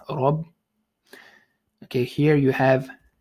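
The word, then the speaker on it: رب: So you have capital R here for heaviness, Rabb.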